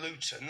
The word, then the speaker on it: Luton: And so anyone if you don't understand Luton Luton see I pronounced my tea there. We don't pronounce our T's.